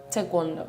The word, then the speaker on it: taekwondo: I started with tawondo when I was 2 years old. You say it properly. Taekwondo.